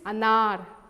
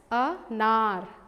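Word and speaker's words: अनार: A, say how we pronounce this? Anar. Can you repeat with me? We pronounce it as anar.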